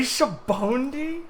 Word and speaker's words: Sabaody: Does it say Shabondi? That's the Romanized pronunciation, yeah.